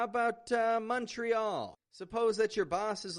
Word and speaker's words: Montreal: And in a meeting, everybody keeps on saying Montreal, Montreal, something like that. But then you step in like a superhero and you say, hey folks, it's actually Montreal, Montreal.